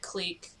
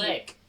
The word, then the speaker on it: clique: popular but feared clique clique i always want to pronounce it clean click click why is it embarrassing why is the e there it's a french word i don't know if it's click if it's french then it should be clique anyways featured click that